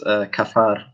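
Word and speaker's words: כפר: It's kafar, which is almost like cover.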